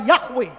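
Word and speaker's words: Yahweh: bahasa asli Alkitab itu ditulis yhwh Bacanya adalah yahwe maka sebab Akulah yahwe allahmu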